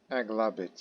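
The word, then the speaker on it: Aghlabid: Aglabit. Yeah, you got it correctly. Regarding pronunciation.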